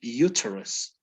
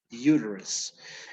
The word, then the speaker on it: uterus: the uk right england in england they would they would pronounce this word uterus okay the t is really strong however in in u.s english uterus it's as if the t would turn into a d yes great uterus here